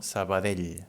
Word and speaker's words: Sabadell: Sabadell ends in this double L, and it sounds like this, no? Sabadell, this L sound.